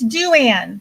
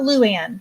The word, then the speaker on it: Duann: It's Duann, not Luann.